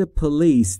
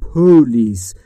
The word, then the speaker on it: police: در مورد تلفظ پلیس دقت بفرمایید، استرس روی بخش دوم روی ال. پلیس نگفتم پولیس.